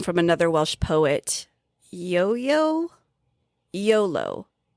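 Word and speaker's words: Iolo: Oh, I looked it up and it is just pronounced YOLO.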